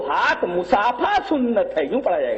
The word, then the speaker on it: مصافحہ: اور آخری دیکھیں، 2 ہاتھ مصافحہ سنت ہے۔ اب جن کو مصافحہ کا تلفظ نہ آتا ہو وہ بیچارے کیا جانے کہ ایک ہاتھ سے مصافحہ کرنا چاہیے کہ 2 ہاتھ سے؟ اصل میں وہ مصافحہ ہے، مصافحہ نہیں ہے۔ اگر یہاں مصافحہ پڑھا